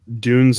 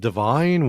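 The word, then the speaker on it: DVNE: Ellis, which is from Dune's new album Atimen Inca, and that's spelled D-V-N-E. I did not know it was pronounced Dune. I was like, is it divine?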